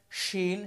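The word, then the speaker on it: ش: শিনের উচ্চারণটা হবে আওয়াজ ছড়াবে, এটা হচ্ছে তাফাসসির হরফ, আওয়াজ ছড়াবে।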